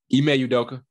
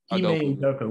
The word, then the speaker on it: Ime Udoka: Would y'all put I can't pronounce that coach. Ime Udoka. Ime Udoka.